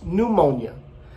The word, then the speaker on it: pneumonia: like in the word pneumonia it's in portuguese we say pneumonia but we don't pronounce the p in english so it's pneumonia and also the word